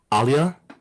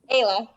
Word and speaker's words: Ayla: With I feel like Pluto in Scorpio feels like they're not seen because and I don't how do you say your name? I apologize. Alia? Ayla. Ayla, I apologize.